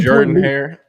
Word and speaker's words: Jordan-Hare: So Auburn had an 11 Jordan-Hare. That's how you pronounce it.